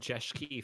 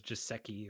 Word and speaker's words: Jeschke: all easy to pronounce because i've had jeshiki for ages but everyone always says giuseki or no no i'm kind of like appropriating like the german sch thing i don't know yeah